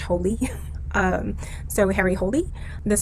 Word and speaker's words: Hole: harry hole it's not pronounced whole it's pronounced holy um so harry holy